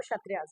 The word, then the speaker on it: क्षत्रिय: ठीक है, लिखने में क्षत्रिय लिखा जाता है, बट इसकी प्रोनाउंसिएशन जो है वो क्षत्रियास है।